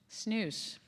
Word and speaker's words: snus: Snus.